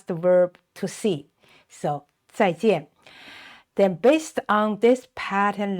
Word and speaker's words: 再见: And notice this pronunciation, the letter J is pronounced 鸡, 鸡, 鸡, 一, an, 见.